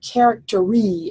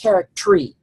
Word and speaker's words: charactery: Okay, well that's got 11, but most likely the word charactery is not pronounced like that. It's probably pronounced charactery.